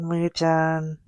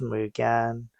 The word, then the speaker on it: Mugen: And how I first discovered Muen Mugan. I don't know like what's the right way to say it. I think it's mugen, but I think like as a kid I call it muen.